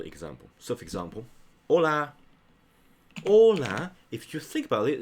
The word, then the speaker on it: hola: Ola. If you think about it, it should write this way. But you know what? The H is silent.